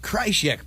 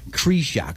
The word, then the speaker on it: Krieshok: So for these many years, we've been saying the Krieshok Project. However, I believe somebody was wrong. How is it pronounced? Krieshok. Krieshok.